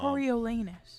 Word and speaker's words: Coriolanus: young uh corol anus anus uh snow um coriolanus coriolanus right coriolanus yeah it still says anus still do spell it out coriolanus corilanus no young President Snow